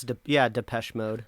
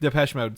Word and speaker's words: Depeche Mode: Is that how you pronounce it? I think it's Depeche Mode. Depeche Mode.